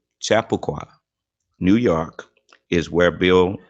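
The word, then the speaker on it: Chappaqua: just fine for me chapaqua and pronounced Chapa chapaqua New York is where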